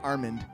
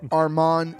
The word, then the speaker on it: Armand: Not Armand. It's Armand C. from Glendale.